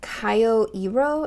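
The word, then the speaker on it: Kyoiro: I have here is I think it's Kyo ero is how you pronounce the brand name um it's k-y-o-i-r-o but this is gian's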